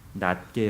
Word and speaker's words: 낫게: 마음으로 각각 자기보다 남을 낫게 여기고 그리고 발음을 잘 해야 됩니다 장음으로 해야 돼요 낮게 해야지 낮게 하면 반대말이 됩니다 자기보다 남을 낮게 여기고